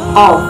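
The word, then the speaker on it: ق: 11, yaitu huruf qaf. Pelafalannya qaf.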